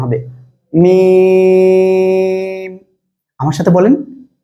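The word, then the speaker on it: ميم: এই অক্ষরটা কি জানেন, মিম, চার আলিফ টেনে পড়তে হবে, দুই ঠোঁটের শুকনো অংশ, অর্থাৎ আমি যদি একবারে বলি এই যে বাইরের যে শুকনো অংশ এই জায়গা থেকে উচ্চারণ হবে, মিম, আমার সাথে বলেন মিম মিম।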